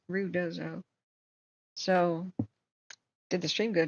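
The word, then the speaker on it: Ruidoso: at um um rudoo I was saying it wrong it's not Ru dozo it's rud dozo so did the stream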